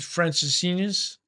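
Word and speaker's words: Francesinha: it's so close that's our staple we tried Francis Senus uh am I pronouncing it right you're pronouncing it completely right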